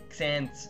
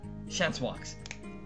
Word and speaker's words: Chancewox: We have, I'm not going to say, I can never pronounce his name, Xans. No. Chancewox.